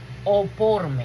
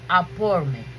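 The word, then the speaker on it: ἀφορμή: En Romanos 7:8, la palabra griega para ocasión es traducida oporme. Mm, no, aporme. Ajá. La la pronuncié como inglés, pero es griega.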